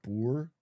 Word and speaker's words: Boer: It's pronounced Boer.